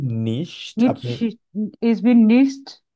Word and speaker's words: nicht: প্রোনাউন্সিয়েশনটার সমস্যা হচ্ছে ভাইয়া। এটা হচ্ছে ইস বিন নিশট।